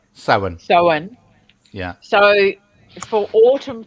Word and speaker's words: Samhain: so it's pronounced Soane. Is that right? Sowen.